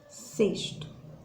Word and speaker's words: sexto: letras graficamente né mas quando eu vou pronunciar cesto o sexto eu tenho q2s daí olha só eu consigo pronunciar o primeiro s de sexto normalmente consigo pronunciar o relé porém quando eu chego aí no sexto que escrito com x na fala ele não aparece com o som do x mas sim com som do s tá sexto sexta